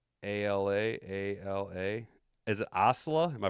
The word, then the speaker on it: Ocala: Pronounces it Ocala. Ocala? Not Osla.